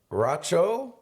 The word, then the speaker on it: Raucho: We got Raucho.